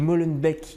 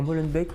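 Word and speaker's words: Molenbeek: Et Molenbec. Il y a des gens qui prononcent encore Molenbeck aujourd'hui. Il y a quand même des gens qui ou il y a des gens qui le prononcent comme ça mal.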